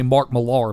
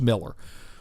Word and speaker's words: Millar: A lot of people say Mark Millar because he's Scottish, and he spells his name Millar. Well, it's pronounced Miller.